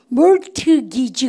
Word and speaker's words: mortgage: 여러분들 트 발음 먹으면 아시죠? 발음을 갖다서 mortgage. 그래서 영국 사람들은 중간에 R 발음을 많이 안 하거든요. mortgage 그래요. 근데 미국 사람들은 중간에 R 발음 많이 해요. mortgage 이렇게 얘기해요.